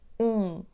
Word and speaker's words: um: We already know, we don't pronounce M at the end of the word "um", let's just have the nasal sound /ũ, ũ/.